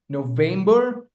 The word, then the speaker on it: November: October, November, December. The stress lies on the second syllable.